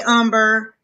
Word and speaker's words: Umber: Um, hey Umber. Um, everybody kept calling Amber. Um, I mean Umber Amber last night in class.